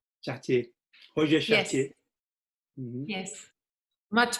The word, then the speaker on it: Chartier: forgot his name, que fala sobre livros, o Chartier? Chartier, Roger Chartier. Yes. Yes, much better pronounced than me.